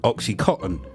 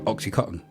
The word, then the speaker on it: OxyContin: it to be called oxycotton because of the way Americans pronounce it they don't pronounce the n I've never heard an